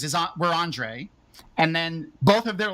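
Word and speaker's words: Ondřej: them in chat uh their names are both Andre spelled like checks spell it which is o-n-d-e uh d-j-e-a Andre it's like fantastic and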